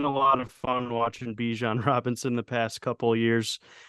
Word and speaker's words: Bijan: phenomenal one at that so Bijan rhymes with Parmesan and he's about to